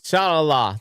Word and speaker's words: inshallah: Inshallah. That's what it said. Inshallah. I guess the ayin is silent.